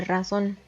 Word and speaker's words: razón: Después tenemos la palabra razón, 2 sílabas, la sílaba tónica recae en la última sílaba y vemos que termina en N, por lo que añadimos la tilde.